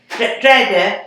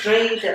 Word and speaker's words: Dreda: Dreda? No, it's Dreda.